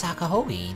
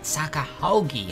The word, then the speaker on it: 坂穂木: It's pronounced Sakahogi, not Sakahogi. Haogi.